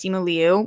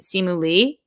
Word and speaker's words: Simu Liu: Okay, so I thought his name was Simu Liu, but everybody's pronouncing it Simu Lee. And I don't know, because I guess Liu is pronounced Lee. However, my 5th grade teacher's name was Miss Liu, Liu. So I don't know, but I think what I'm hearing is Simu Lee, even though I thought it was Simu Liu.